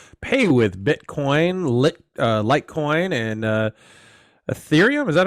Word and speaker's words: Ethereum: to let users pay with Bitcoin, Litecoin, and Ethereum. Is that how you pronounce it? Yes, Ethereum.